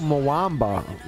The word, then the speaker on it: Mwamba: Oh, Mwamba. That's how you pronounce his name. There's actually recorded lines for that. They call him Mwamba.